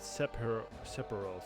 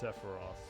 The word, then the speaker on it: Sephiroth: it later sephiroth i think as a kid i used to pronounce it separals but now it's sephiroth with an f we'll find out who